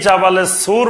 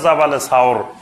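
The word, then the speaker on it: جبل ثور: নূর আর জাবালে সুর, এই জাবালে সুর বা এটা শুদ্ধ উচ্চারণ হলো জাবালে সাওর, এই সাওর পাহাড়ের গুহায় নবী সাল্লাল্লাহু আলাইহি ওয়াসাল্লাম অংশ ছিলেন, 3 দিন ছিলেন।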